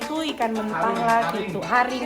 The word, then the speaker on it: haring: Haring bacanya haring.